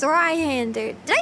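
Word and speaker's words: Zweihänder: Zweihander.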